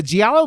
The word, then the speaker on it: giallo: And the Giallo movies are so you could tell the fucking.